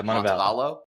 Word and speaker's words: Montevallo: Tell me if I'm pronouncing this correctly. University of Yeah, Montevallo.